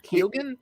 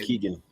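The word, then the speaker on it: Barry Keoghan: con Carrie Condon and uh how do you pronounce his name Barry kilgan or Keegan okay Keegan Keegan okay so he was great he was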